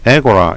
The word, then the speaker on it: agora: 이번에는 아까워라 광장 인데요 영어식 발음은 앱 어 입니다 사람들이 모여서 활동 약